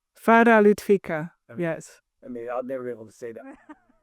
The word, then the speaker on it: Farah Lutvica: So, Farah, right? Yes. Said the American way. How do you say it the proper way? Farah Lutvica.